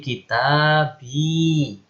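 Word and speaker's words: كتابي: Ya, kalau kita bun tambah ya menjadi kitabi. Perhatikan. Karena bersambung dengan ya sukun, maka nggak bisa kita bui. Susah bacanya. Kita bui. Bui, kita bui. Nah, susah. Nah, ini dipermudah dengan dirubah menjadi kasroh.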